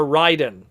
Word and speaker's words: Raiden: the middle here of our ryden or raiden however you want to pronounce it ryden the headmasters trainbots